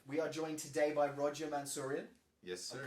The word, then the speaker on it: Roger Mansourian: We are joined today by Roger Mansourian. Yes, sir. I'm pronouncing that correctly this time?